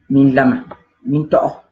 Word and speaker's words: Minlama Mintogo: Pour bien prononcer, nous on dit Milama Mitoro.